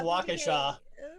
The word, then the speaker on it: Waukesha: there's that big town by milwaukee that's called waukesha it's actually what it's actually waukesha it's it's pronounced waukesha but you look at it and it's like